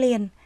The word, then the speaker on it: liền: theo quạt liền tay khi đọc đến tiếng liền chúng ta phát âm là l quạt liền tay mời